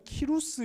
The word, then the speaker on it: 키루스: 여러분 이름을 들어보셨는지 모르겠습니다만 이 사람이 역사에는, 여러분이 혹시 뭐 세계사를 배우셨다면 그 세계사 교과서에는 키루스 2세라는 이름으로 등장합니다.